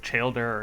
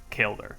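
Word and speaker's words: Chaeldar: the master in xanaris i know a lot of you probably called her childer or cheldar but i looked up the official pronunciation and it is kale there so sorry about that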